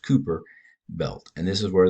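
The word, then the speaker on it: Kuiper: the Cooper Ki p e or but it's pronounced Cooper belt and this is where the plant these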